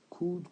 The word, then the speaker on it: could: Et n'oubliez surtout pas le code, on ne prononce pas le L, on l'écrit mais on ne le prononce pas. Donc ça donne could alri good quelques phrases avant.